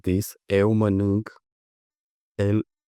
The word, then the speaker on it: el: few minutes ago because in some words, "e" is pronounced like "yeah." I know it might sound strange, but if you speak to someone like this, eu mănânc, el, ea, el, ea, of